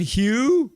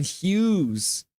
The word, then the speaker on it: Hughes: Quinn Hugh. No, it's Quinn Hughes. Not Quinn Hugh. Quinn Hughes. You missed some. You didn't spell it properly. Hughes. It's a common misconception that his last name is Hugh.